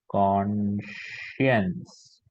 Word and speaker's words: conscience: phonetics we can say conscience on what it cons and shift this this particular thing makes the sure sound sh sound so c